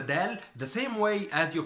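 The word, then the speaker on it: دال: So dawla is country, and you pronounce the dal the same way as you pronounce the d, dawla.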